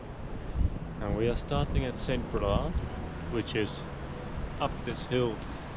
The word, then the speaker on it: Saint Brelade: So that's why it's "Saint Brelade" and not "Saint Brelade."